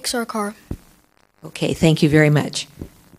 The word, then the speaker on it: Sarkar: So that we all pronounce his name correctly, I'm going to have him say it. Sarkar.